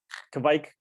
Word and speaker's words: kveik: his interests is beer we pronounce it yeah kevik sorta it helps to be of of scandinavian descent to really get it right but that's that's the